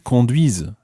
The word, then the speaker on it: conduisent: and ils conduisent. Ils conduisent. So that's ending in, well, the whole verb is spelled C-O-N-D-U-I-S-E-N-T, and that's your silent E-N-T ending.